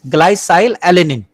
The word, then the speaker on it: glycylalanine: So we will pronounce this as glycylalanine.